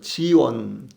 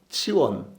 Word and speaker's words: 시온: 시온에 대해서 먼저 알아보면요, 시온은 뭐 지원, 치원, 원래 발음은 이런 말입니다. 근데 우리말로 그냥 시온, 시옷자로 이렇게 읽는데, 영어에서는 지읒자, 그래서 지원이고, 그 다음에 그 헬라어에서는 그래서 성경적으로 읽으면은 치원 이렇게 많이 나옵니다. 발음이요.